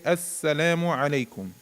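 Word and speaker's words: السلام عليكم: be uh doubled you we would pronounce it with a shadda and that's like all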